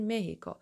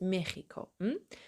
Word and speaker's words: México: Pero si estás en España, dices México. اگه تو آمریکای لاتین هر کدوم از کشورهاش باشید، اصولا این رو مهیکو تلفظ میکنن، ولی تو اسپانیا خود مخیکو میگن چون اکیس صدای خ میده.